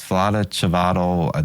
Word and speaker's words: Vlada Chvátil: It's Vlada Chvátil. That's the American slang of his name. It's not correct how you pronounce it, but he's a genius.